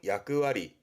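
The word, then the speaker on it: 役割: 발음은 야끄와리, 야끄와리.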